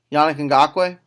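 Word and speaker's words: Yannick Ngakoue: Yeah, Yannick Yannick Ngakwe.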